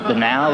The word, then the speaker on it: banal: Against, he tells you every nuance of his banal existence. Now, I looked that up today, but you can pronounce it banal.